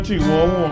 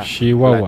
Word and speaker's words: Chihuahua: Y le estoy haciendo así de Chihuahua porque la gente aquí habla así, así pronuncia la Chihuahua. La, la CH. Se dice leche, muchacho, Chihuahua.